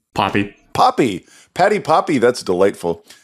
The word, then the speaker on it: Poppe: Poppy.